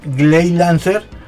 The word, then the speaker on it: Gley Lancer: inglés porque en realidad se cambió la l de gley era Grey porque era este Grey Lancer entonces pero como la pronunciación japonesa es gay se quedó así ley 11 Entonces está